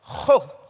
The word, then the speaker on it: Gogh: Gogh.